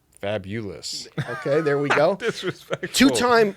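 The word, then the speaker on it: Fabolous: busy day season finale fabulous f-a-b-o what's the pronunciation fabulous okay there we go two-time sneaker shopping guest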